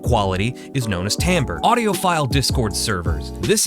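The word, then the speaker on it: timbre: it gets under my skin to see people pronouncing it wrong it's called tamber tamber refers to a sound's unique quality or characteristics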